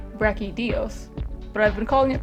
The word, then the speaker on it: Brachydios: just beating Brett caudillos yes I know it's pronounced rocky Dios but I've been calling it Breck Hideo since 3 ultimate it takes me about on